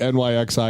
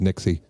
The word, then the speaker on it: NYXI: I realize I called it NYXI because it's all capitalized, but it's probably just pronounced Nixie.